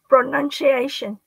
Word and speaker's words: pronunciation: pronunciation say it again pronunciation yeah p the p look uh yeah very soft okay pro pro there you go don't follow bro don't make it a b sound pronunciation pronunciation yes